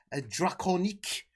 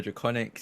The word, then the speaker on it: Drakoniques: Oh, and of course, last but not least, Draconique. The French description, this French pronunciation of his name. Drac, who are you and who are you playing? Yes, hi, I'm Drac or Draconics.